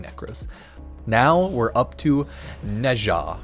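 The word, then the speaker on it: Nezha: right Speedy frame um nja Neja however you technically pronounce it I always say nja or I think a technical way to say is like nja or something like that but is a I believe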